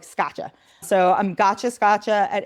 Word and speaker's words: Scaccia: A lot of people don't know how to pronounce my last name, so I'm like Gotcha Scotcha. It's not not one of those fancy Italian last names. It's just hard like Scotcha.